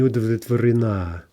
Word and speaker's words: удовлетворена: Okay, now if we use она, we're going to get the end stress. It's going to jump to the а. Она не удовлетворена.